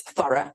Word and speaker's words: thorough: But if we look at the words thorough and dough, the GH is silent.